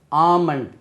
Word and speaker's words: almond: Almond, A-L-M-O-N-D, badam parappu, almond, that is not almond, almond.